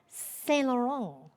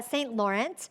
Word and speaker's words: Saint Laurent: My last name is Saint Laurent, but I don't pronounce it that way. I wish I did. But it's Saint Laurent, and it's spelled like the brand, so saint is spelled out.